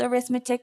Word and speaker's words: arithmetic: Spelled arithmetic, pronounced arithmetic.